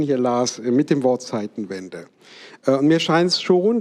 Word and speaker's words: Zeitenwende: man schon daran merkt, dass er im Englischen meistens in Deutsch ausgesprochen wird. Change of Times, Change of Eras oder Epochs sagt kein Mensch. Man sagt dann irgendwie Zeitenwende oder irgendwie sowas.